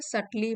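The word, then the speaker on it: subtle: adverb है ठीक है सली मतलब बारीकी से और यह बना है सल से सटल होता है इसमें भी बी साइलेंट है सल होता है एडजेक्टिव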